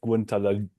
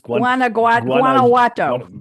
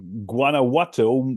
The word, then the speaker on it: Guanajuato: It also limits production to regions in the states of Guantanamo. Oh God, I can't even pronounce these names. Guanajuato. Guanajuato, Michoacan, Yeah.